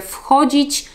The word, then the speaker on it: wchodzić: Uwaga na wymowę, kiedy mówicie wchodzić, to w wymowie na początku jest F, wchodzić, a kiedy mówimy wychodzić, to wtedy tam czytamy to wychodzić.